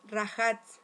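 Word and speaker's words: רחץ: hebreo que es eh rajat, ¿ya? Este rajat. Así se escribe rachat, pero como estuve viendo muchas muchos videos de judíos, judíos mesiánicos, eh, lo entiendo que ellos lo pronuncian así como rajates.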